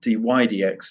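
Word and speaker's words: dy/dx: of x or f prime of x or d y d x is how we pronounce the d y divided by d x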